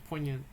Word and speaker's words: poignant: Poignant? Poignant? Or is it poi? Is it poi or poi? It's poi, right? It's poignant. Political commentary on the struggle of the proletariat.